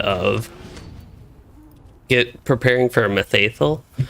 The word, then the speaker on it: Mitheithel: for a methaethyl methathel it's so easy for me to say ol instead of l even if it is as far as i know at least it's more of an l sound at the end rather than an old okay that's actually not